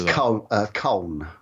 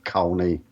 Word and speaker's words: Colne: I think it's Colne. Okay. Colne rather than Colney.